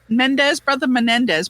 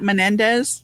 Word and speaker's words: Menendez: I guess maybe if the Menendez brothers. That's how you say it, Menendez. If those Louisiana, you can't even say a Spanish last name. What kind Menendez, of right? That's what it is, right? Menendez.